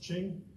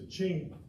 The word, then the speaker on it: Qing: of the Qing Empire q i n g is pronounced Ching you know them from